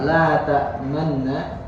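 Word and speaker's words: لا تأمنّا: Cuman cara membacanya adalah ismam, supaya menampakkan nun yang pertama itu yang berharakat dhammah, tapi tidak dihidupkan dhammahnya, cuma diisyaratkan dengan bibir, yaitu memonyongkan isyarat dhammah, itu memonyongkan bibir.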